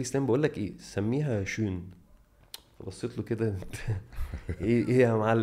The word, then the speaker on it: Schön: وقعدت بقى اتعلم انطق الاسم ازاي، لان في ناس بتفكرها اسمها شون، هي مش شون، اسمها شون، ولازم الاو تبقى يون كده.